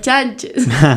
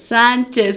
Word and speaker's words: Sánchez: apellido, que son las Chanches. Okay. Entonces yo le digo, no importa cómo te digas, solo vamos a pronunciar juntas Sánchez, porque ella mismo se dice Martina Sánchez, pero ¿por qué uno puede?